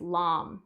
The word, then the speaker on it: lam: a seed mantra and it's lamb so it's spelled in english as l-a-m and it's sung in the same way as om so that's what we'll